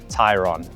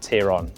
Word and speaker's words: Tayron: And yes, that's right, I pronounced it correctly, Tayron, not Tayron, like you might think.